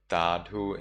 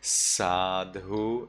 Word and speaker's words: Sadhu: If you agree with what someone says or does, you reply Tadhu in Burmese pronunciation, Sadhu in Sri Lanka pronunciation.